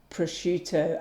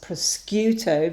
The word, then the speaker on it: prosciutto: I'll always pronounce the word prosciutto as proscuito because that's how she used to say it.